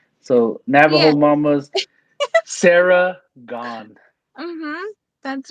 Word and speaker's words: Gon: that I was like gone just no e and he's like where's